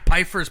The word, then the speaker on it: Pfeiffer: Pfeiffer's player props. Bang. All right, so we'll have Tease and thank you from me. He mispronounces his own last name. It's supposed to be Pfeiffer.